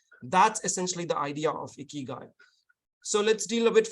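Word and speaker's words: 生き甲斐: not as soft so in Japanese when they combine the words sometimes they soften the and the the new word that comes in so in this case ikikai becomes ikigai essentially if you literally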